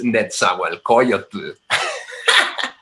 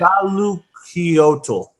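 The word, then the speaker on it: Nezahualcóyotl: His name is Netzahualcoyotl.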